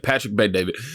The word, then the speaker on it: Patrick Bet David: Well, yeah, Patrick Bet David.